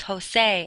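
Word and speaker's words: José: The letter J in Spanish is how they make our H sound. The names Jose and Juan are spelled with J's because that's when they use the H sound.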